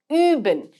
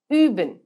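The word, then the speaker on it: üben: you pronounced in it that's the similar way that you with two dots on top of it is pronounced in german an example would be uben which means to practice uben now let me introduce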